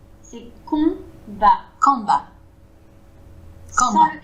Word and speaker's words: combat: Donc, branle-bas de combat dans le salon. J'ai peur de me lancer. Branle-bas de combat dans le salon. Oui, alors combat, c'est pareil, on prononce pas le M. C'est combat.